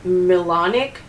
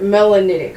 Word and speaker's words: melanitic: It's also um refer referred to as melanic garnet. I supposedly I've never heard it referred to that way before, but melanitic I should say. Sorry, that's the wrong pronunciation.